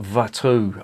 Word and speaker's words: Watou: This is the Cuvée de Watou. I think that's how it's pronounced. It's from Flanders, so I'm assuming they pronounce the W as a V.